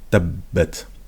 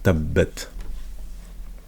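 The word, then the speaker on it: تبت: Donc ici on a la shadda, pardon, j'ai dit la soukoun, c'est la shadda avec la fatha, tabbat, ta. Donc tabbat.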